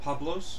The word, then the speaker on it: Pablos: Is the last name pronounced Pablos?